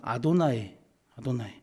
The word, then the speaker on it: 아도나이: 그래서 여호와라는 단어를 쓰지만 읽을 때는 뭐라고 쓰죠? 뭐라고 읽죠? 주님이라고. 아도나이.